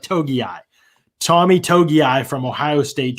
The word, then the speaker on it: Togiai: Another guy that would represent a change probably is Tommy Togiai. That's how you say it. Togiai.